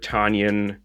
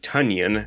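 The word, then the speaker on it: Tonyan: page with aaron today robert tanyan or i'm sorry i'm sorry robert tunyan as that's his how you pronounce his name um only held the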